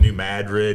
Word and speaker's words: New Madrid: It's just like Cairo, Illinois. They call it Cairo or New Madrid. Down south it's called New Madrid.